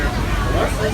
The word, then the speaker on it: Kawartha: Kawartha is actually a native word, and it is pronounced Kawartha.